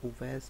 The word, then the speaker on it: उवैस: तो हज़रत उवैस करनी है ये, इसको वर्डिंग में अवैस पढ़ा जाता है लेकिन इसका जो सही प्रोनाउंसिएशन है वो उवैस है।